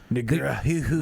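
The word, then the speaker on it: Negreanu: Negrahu. I don't know how to pronounce.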